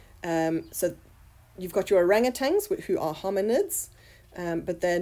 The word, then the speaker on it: orangutan: so you've got your orangutan who are hominids but they're not in the same subfamily with us ok orang utan is the correct pronunciation but we all say orangutangs ok if we look